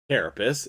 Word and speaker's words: Carapace: Carapace is the correct pronunciation.